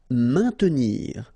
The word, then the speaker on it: maintenir: Maintenir. So remember, A, I, N together will produce the sound un. Maintenir. Don't insist on the E.